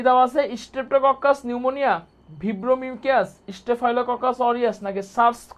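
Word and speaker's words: pneumonia: মধ্যকর্ণের সংক্রমণের জন্য দায়ী হচ্ছে স্ট্রেপ্টোকক্কাস নিউমোনিয়া। নিউমোনিয়া বানানটা কিন্তু অনেক ভুল দেয়, পিটা আমাদের এখানে সাইলেন্ট আছে, বানানটা কিন্তু ভুল করা যাবে না, বানানটা কিন্তু খুব সুন্দর করে দেখতে হবে।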